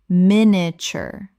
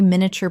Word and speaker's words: miniature: Common mispronunciation. Miniature. Correct pronunciation. Miniature. Three syllables in natural speech. The middle collapses dramatically. Example. The artist was known for her extraordinary miniature portraits, which required a magnifying glass to appreciate fully.